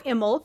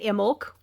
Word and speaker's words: Imbolc: the imul season um or imul depending on how you've been taught to say it I was taught to say it imul years ago with the pronouncing the be um you can say it imul with the silent be it doesn't matter